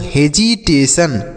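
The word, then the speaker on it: hesitation: टी आई ओ एन को सन पढ़ते हैं। तो लिखा गया बच्चों हेजिटेशन। क्या लिखा गया? हेजिटेशन। ठीक है? इसे हम पढ़ेंगे हेजिटेशन।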